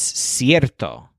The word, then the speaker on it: cierto: it's certain he says is cierto kind of like certain but with a stress on air this word is in